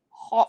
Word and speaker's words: homme: Man is homme. Homme. Homme. Homme. It's pronounced homme.